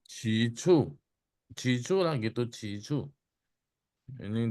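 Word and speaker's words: 起初: bacanya, aksennya bagaimana bacanya? Cicu.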